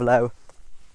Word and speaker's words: Laos: So Lao was colonized by France in 1893. They kind of named the three kingdoms and grouped it under one. Now the S is not is not pronounced today. It's silent.